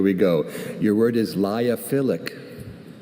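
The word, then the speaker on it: lyophilic: Liophilic. Can Can I have any alternate pronunciations? I see only liophilic.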